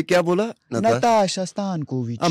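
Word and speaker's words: Nataša Stanković: नो देखिए गलत बोल गए ना आप यहाँ पे. देखिए you have to speak like this when trying to pronounce Serbian और इटालियंस नेम. नाताशा स्तानकोविच इस तरह से.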